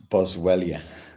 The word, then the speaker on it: Boswellia: Let me get the pronunciation of that properly for you. Um, yeah, it's Boswellia.